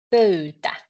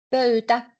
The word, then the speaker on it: pöytä: You have to pronounce both. Y. Pöy. Pöytä. Pöytä. So when you see the vowels, just pronounce each one of them. Then it goes correctly. Pöytä.